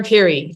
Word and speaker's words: Pirie: So I'm trying to always think what the Americans should say, because Karen Pirie is probably what you'd say. Oh, like piri sauce, right? Yes, exactly. It's that Karen's Pirie like peri sauce.